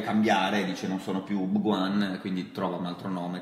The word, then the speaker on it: Bhagwan: Comunque, che narra la storia del mitico e leggendario santone indiano Osho, che in realtà si chiama Bhagwan, bisogna pronunciarlo Bhagwan. No, sì, si pronuncia Bhagwan.